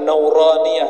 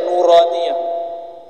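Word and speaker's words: نورانية: niah makanya ribat itu kita kasih nama nauraniah itu bacanya nuraniah huruf-huruf cahaya dan dulu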